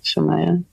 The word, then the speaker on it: Shemaiah: It's like it phonetically sounds like it's spelled Shemaiah.